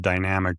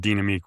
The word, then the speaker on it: Dynamique: He was a Dynamique ski rep, or people call it dynamic, but Dynamique was the actual pronunciation.